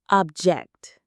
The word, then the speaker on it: object: The word is object. The pronunciation has two syllables. Object. Object. The stress is on the second syllable.